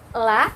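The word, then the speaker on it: ل: mengajar begitu ya, itu banyak sekali pengucapan la itu dikeluarkan lidahnya. La, li, lu, bal, alhamdu. Nah, itu tidak tepat begitu ya. Seharusnya makhraj la itu adalah ujung lidah dengan gusi-gusi. Jadi di dalam, tidak dikeluarkan, bukan alhamdu tapi al.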